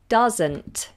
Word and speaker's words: doesn't: it to she doesn't does and it's a Zed sound she doesn't normally stream